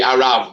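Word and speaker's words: Araf: There's a place, it'll be Arav, by the way, I think. Arav off. Because one F's V and two F's is F.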